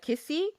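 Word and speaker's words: nkisi: charms they are called kissy it's literally spelled n k i s i I think the N isn't pronounced meaning a object that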